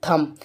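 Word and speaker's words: thumb: है बी ए गया तो यहां पर बी साइलेंट है तो हम इसके लिए क्या पढ़ेंगे थंब चलिए इतना कंफर्म हो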